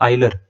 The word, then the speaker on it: Euler: आइलर, EULER। अब आप बोलेंगे सर इसका नाम तो यूलर है। नहीं, यूलर नहीं है, इसका नाम आइलर है। मैंने कई बार बताया था। ठीक है। इसकी प्रोनाउंसिएशन आइलर है, पढ़ने में यूलर लगता है, वो EULER।